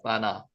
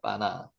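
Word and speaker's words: בנה: 바나. 바나라고 읽고요. 실제로 바나라고 발음해도 상관없고요. 경강점이 지겠 때문에 된 발음이 납니다. 바나 한번 해 보세요. 바나 있다, 세우다, 건설하다, 쌓 이런게 바나입니다. 빠나.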